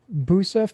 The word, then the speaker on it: Busa: We're going to go with Busa first. Did I say your name correct? It's spelled Busa, but it's pronounced.